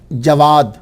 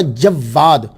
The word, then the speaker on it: جواد: یہ الجواد جو ہے ایک تلفظ ہے جواد، واو کے اوپر سمپل زبر، جواد، جواد بغیر شد کے، تو اس کا معنی ہوتا ہے سخی۔ دوسرا پروننسیشن تلفظ جو ہے وہ ہے جواد، واو کے اوپر جو ہے وہ شد ہے، اس کا معنی ہوتا ہے بہت سخی۔ تو میرے نزدیک جو